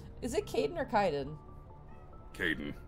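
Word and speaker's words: Kaidan: Kaiden.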